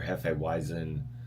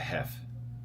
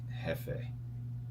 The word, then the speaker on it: Hefeweizen: It's either Hefeweizen or this place on Monday nights where I go, they call it Hef. I'm like, Hefe.